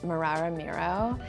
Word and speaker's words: Mararamiro: we go can you tell me how to pronounce the name and where the name comes from our name is marara Miro and it's from the Shauna language from Zimbabwe